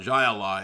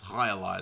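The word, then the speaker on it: jai alai: It's not Jai Ally, it's High Ally, that stupid fake sport.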